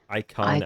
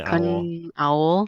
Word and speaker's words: IKONOWL: How do you pronounce that? Icon Owl. Icon Owl. That's how Yeah. I'm doing it. Icon Owl.